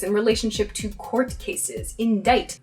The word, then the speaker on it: indict: Indict. It sounds like it should be spelled I-N-D-I-T-E, right? Or maybe I-N-D-I-G-H-T, right? That "ite" sound at the end. But this is actually spelled I-N-D-I-C-T.